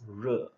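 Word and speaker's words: 热: Okay, this character is pronounced re, right?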